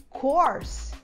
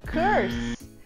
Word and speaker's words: course: E ela é uma palavra que os brasileiros erram direto, porque a gente fala essa palavra course e não curse.